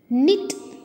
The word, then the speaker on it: knit: letter வந்து silent okay children க்னோ க்னாக் க்னாப் அப்படின்னு சொல்லக்கூடாது இதை ப்ரொனவுன்ஸ் பண்ணுறது தப்பு அப்படி ஸோ இந்த வேர்ட்ஸில் இருக்கிற கே வந்து சைலண்ட் லெட்டர் இப்போ சொல்லாமா நோ knock knob knife knot knee knit knee இப்படி தான் இதை ப்ரொனவுன்ஸ் பண்ணும் ஓகேவா இப்போ கே மட்டும் கிடையாது